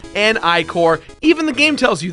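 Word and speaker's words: Ichor: Yes, it's pronounced Trapple and Icor, even the game tells you this.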